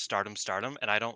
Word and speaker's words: Stardom X Stardom: pay-per-view Stardom X Stardom, which I've realized is just pronounced Stardom Stardom, and I don't like that, so I'm going to keep calling it Stardom Very X good.